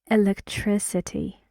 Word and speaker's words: electricity: So when you see this line before tris, it means that the stress is on tris.